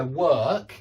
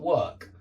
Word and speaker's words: work: Yeah, and that's why work is the same pronunciation as were. If you can do this word, were, and just put a K on the end, you've got work, work, work.